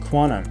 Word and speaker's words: Qtum: shiba ino is kutum the ticker is qtum which is pronounced quantum according to coin market